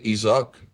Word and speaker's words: Isaac: On prononce en français Isaac, en hommage justement à certains personnages de la Bible qui vous accompagnent et